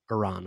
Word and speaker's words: Iran: What's the correct pronunciation? Iran.